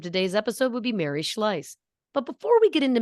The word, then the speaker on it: Schlais: doesn't matter the point is it is Mary schleiss so I do apologize for my uh mispronunciation so a disclaimer as we do this